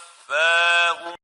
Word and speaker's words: تتوفاهم: The right way of pronouncing it is like this. تتوفاهم تتوفاهم and not تتوفاهم.